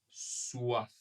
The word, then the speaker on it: soif: Donc cette partie là sera un peu comme un et ici comme wa soif.